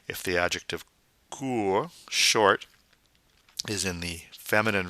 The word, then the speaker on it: court: Then we have court. Now notice that T is silent at the end of the word because there's no E forcing its pronunciation. If the adjective court, short, is in the